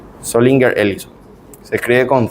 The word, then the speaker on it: Zollinger-Ellison: perforación, y ese síndrome se llama síndrome de Zollinger-Ellison. Zollinger-Ellison. Se escribe con Z.